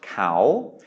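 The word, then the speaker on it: เขา: This is sala e, ko kai, sala a, and this is pronounced cow. High class consonant, long vowel with no final syllable, no final consonant, so that is a live syllable.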